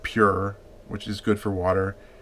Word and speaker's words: Phure: water on the website I thought it was pronounced fer water like pH as in faux fur I